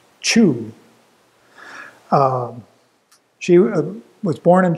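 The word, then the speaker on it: Xu: by the way and I think it's supposed to be it's pronounced chew um she was born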